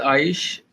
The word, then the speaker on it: Aish: It's pronounced nice, nice, आइश।